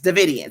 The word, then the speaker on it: Davidian: Davidians. That's how you pronounce it.